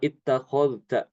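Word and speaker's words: اتخذت: Demikian juga Imam Ibnu Amir mengidghamkan zal ke ta ya pada kata ittakhadta ittakhad ittakhadta atau ittakhadtum sama ya. Itu dalnya itu diidghamkan ke ta. Jadi dalnya hilang.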